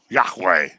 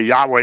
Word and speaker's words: Yahweh: capital is god's name yahweh is the closest pronunciation it doesn't have any vowels in it okay yahweh is what it's usually